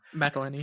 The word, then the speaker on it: McElhenney: McElhenney.